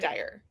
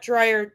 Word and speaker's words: Dyer: Dyer. Yes, not Dryer, Dyer. I was saying it wrong too. Activated the YouTube comments now, right? Yeah. We love Dr. Wayne Dyer. It's Dyer, not dryer, you know? It's not like a dryer in your house.